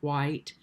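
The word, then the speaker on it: Whyte: i love named david white and his name is spelled w-h-y-t-e david white so many of you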